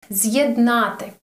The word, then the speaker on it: з'єднати: Pronounce Ukrainian words. З'єднати.